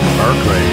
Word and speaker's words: Berkeley: They took the land, kicked out the Spanish, and they named the place Berkeley, after Bishop Berkeley, except they pronounced it Barclay.